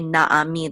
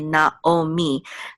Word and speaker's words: Naomi: others like um Naomi they don't say naami they say not oh me they have preserved in